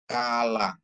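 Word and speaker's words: כלה: Kala ya kap ada dages ya. Kalau kup tanpa dages dia sama dengan KH ya. K H K H sama dengan dia head. Ini bacaannya ya KH. Tapi kalau K dikasih dages dia jadi K ya. tanpa dages dia kahah ya kap ditambah patang lamet ditambah kam tambah he jadi bacanya kala yang artinya mempelai perempuan ya terus head ya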